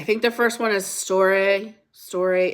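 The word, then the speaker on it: storge: the first one is Story Story It's s t o r g e if I remember correctly it's pronounced like store a it's an empathy bond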